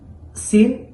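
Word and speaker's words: س: এখানে হরকত দেওয়া যখন আমরা উচ্চারণ করি সা, স, সা, স, এখানে যেন সিন পাতলা হবে, সদ মোটা হবে।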